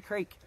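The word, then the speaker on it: craic: I heard in the UK they still say, "What's the crake? What's the crack?" I don't really know, but it's spelled C-R-A-I-C, and it's supposedly a word that means what's going on, what's up.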